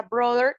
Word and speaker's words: brother: En la pronunciación en inglés americano se pronuncia brother, como si la TH fuera una D.